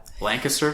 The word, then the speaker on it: Lancaster: and if way Lancaster yeah Lancaster that's the correct way to say that it's Lancaster if it's California okay it's like histor if it's Pennsylvania okay but it doesn't